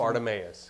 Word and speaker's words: Bartimaeus: And it is entitled, Jesus Healed, pronounce it? Bartimaeus.